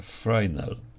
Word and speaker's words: Fresnel: przezroczystości to jest parametr który pisze się fresnel i osobiście bardziej mi się podoba taka wymowa A czyta się frel jest to nie polskie